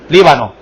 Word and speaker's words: Líbano: versículo 4, o Líbano, no sé, ¿Líbano o Líbano? Líbano, ok, en Líbano, acento en la I.